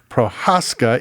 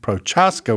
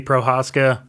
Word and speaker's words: Prochaska: And I just learned that the proper pronunciation of this is Prohaskca. Even though when you read it, it looks like Prochasca, which is probably how it's said in the US.